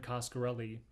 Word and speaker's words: Coscarelli: the most part once again all uh don coscarelli that's how you say his name all he